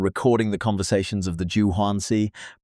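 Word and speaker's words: Juǀʼhoansi: She spent years living among and recording the conversations of the Juansi pronounced junuasi bushmen in the Kalahari desert.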